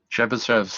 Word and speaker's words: Chebyshev: Nobody knows how to pronounce that name? Bishops. Sorry, what did you say? Chebyshev's.